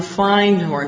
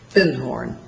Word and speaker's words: Findhorn: And I said, "Do you have anything on Findhorn?" Because I'd found a book called The Magic of Findhorn. And he corrected my pronunciation. He said, "You mean Findhorn?"